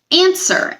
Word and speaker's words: answer: Answer.